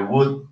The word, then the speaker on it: would: Como si usted dice una W, una U con acento de would.